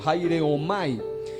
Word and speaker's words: haireomai: Por ejemplo, la raíz de la palabra harpazo o harpazo en griego es haireomai, con H al principio, haireomai.